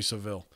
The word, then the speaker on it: Savile: your pronouncing of Jimmy Savile 's name is wrong it's pronounced like the word savvy so pronouncing salve ol